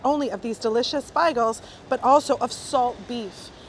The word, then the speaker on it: beigel: I wasn't trying to say bagel, I was trying to say beigel. Beigel is the traditional Yiddish pronunciation for bagel, or bagel, I've heard some people say.